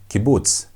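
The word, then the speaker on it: קיבוץ: And on the short vowels we have kibuts. Kibuts. Kibuts makes the short oo sound as in the word book. Book. That oo oo is how kibutz is pronounced.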